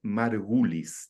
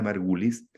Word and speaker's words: Margulis: años murió, Lynn, L-Y-N-N, Margulis, tal como se pronuncia, con I latina, Margulis, majestuosa microbióloga.